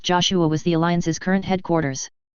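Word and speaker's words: JOSH-A: its full name was though it is pronounced Joshua was the alliance's current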